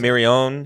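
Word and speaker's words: Stephen Mirrione: So, despite the editor Stephen Mirioni, how do you pronounce it? Mirione.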